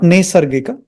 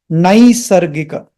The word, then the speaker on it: नैसर्गिक: Om naisargika, naisargika, not nesargika, naisargika, naisargika, daya tirtha, daya tirtha, snana, snana, klinnantaratmane, klinnantaratmane.